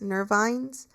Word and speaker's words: nervines: And so nervines, um, just in case you're not understanding what I'm saying, like it's spelled N E R V as in like victory. I N E S, nervines.